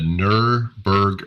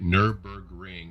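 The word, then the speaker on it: Nürburgring: and um yeah the the ner berg i can't even say it right nurburgring and their burger endurance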